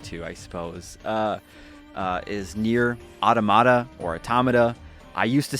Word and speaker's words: Automata: Is Nier Automata or Automata. I used to say Automata, and now I'm trying to say Automata.